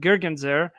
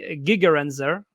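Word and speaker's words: Gigerenzer: feelings and so uh gergenzer uh gigarenzer uh actually is the right pronunciation I believe uh whose author of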